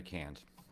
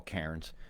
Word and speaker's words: Cairns: Right, my concern for today is cans, which I'll call Cairns, because I think AIR should be pronounced as the word air.